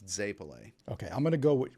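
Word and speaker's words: zeppole: We call it Zapolas, but she lectured me in March that it's Zapole.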